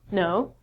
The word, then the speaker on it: know: So instead of saying canal or canoe, we just say no.